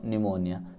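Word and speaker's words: pneumonia: तो देखिए आंसर क्या लिखेंगे, Johnsy was suffering from निमोनिया, P silent है, ठीक है ना, तो निमोनिया से वो सफ़र कर रही थी।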